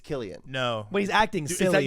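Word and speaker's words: Cillian: And it's not pronounced Silian. It's Killian. No, but he's acting silly. You learning that? Yeah. Yeah. It's Killian. That's That's the Irish pronunciation.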